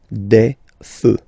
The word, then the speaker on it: feux: Un feu, and basically the same rule. You don't put S, but you will put X instead, and then you don't pronounce it. Des feux, un feu, des feux.